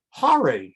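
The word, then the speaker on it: הר: that's the cities but rhyming with the word AR is har and Har means Hills you can even see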